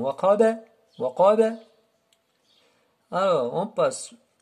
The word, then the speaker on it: وقب: Wa min sharri ghasiqin idha waqaba. Alors, on fait attention au ba aussi. Il est comme le qaf. Il y a hukm al-qalqala, la vibration. Waqaba, وقب.